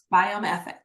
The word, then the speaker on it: Biome FX: saying it right right biome FX biome FX correct it's f is in Frank X is in x-ray so look at it